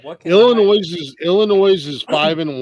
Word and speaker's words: Illinois: fortitude all right what Illinois is Illinois is five in one oh my God I can punch you for pronouncing the S on the end of that State Illinois I do it on